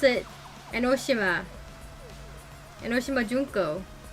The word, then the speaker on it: Enoshima: they say the word enoshima they say enoshima they put the emphasis on the she and not the no i watch the anime and they pronounce it enoshima henoshima junko it's